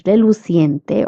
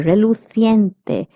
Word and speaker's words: reluciente: It's reluciente or reluciente because the pronunciation is of CI. So you will pronounce it as C and not ki. Okay, reluciente or reluciente are both correct pronunciations, and this means shiny.